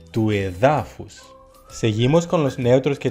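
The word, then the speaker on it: του εδάφους: Por ejemplo, toédafos, el suelo, el terreno, no se convierte en tuédafus, sino tuedafus.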